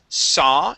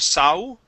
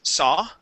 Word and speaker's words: saw: word right here is saw instead of sau it is saw so okay very good